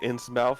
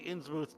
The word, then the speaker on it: Innsmouth: Something I always found weird about Innsmouth is that it's spelled like it should be read Innsmouth, but it's read Innsmouth.